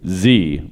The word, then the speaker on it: Xe: Well, they've since changed their name to Z, which is spelled XE.